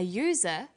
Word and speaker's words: user: So we say an umbrella, but a user, because user sounds like it begins with a Y.